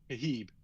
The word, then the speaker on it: Khabib: How do you say his name? Habib. Habib. He's a Habib.